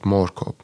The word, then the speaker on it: Moorkop: I think like your pronunciation is also correct. Like it's called Moorkop.